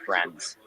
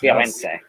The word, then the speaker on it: Firenze: compare the difference between the Venezia and the Friends. Yes. Firenze.